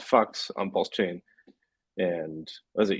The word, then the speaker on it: PHUX: Well, Buck has a DEX called Fux on PulseChain, and was it yesterday?